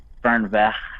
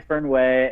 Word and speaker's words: Fernweh: So Fernweh is a German word, and I'm not actually saying it right. I'm sure there's some German speakers out there who are correcting me. It should be like Fernweh. But I always say Fernweh, and it's a German word.